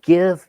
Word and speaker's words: GIF: I mean, it's GIF is literally gift without the T. It's pronounced GIF.